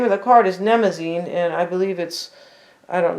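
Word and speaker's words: Mnemosyne: Nemazine, although it's a silent M, unless I'm pronouncing it incorrectly, right?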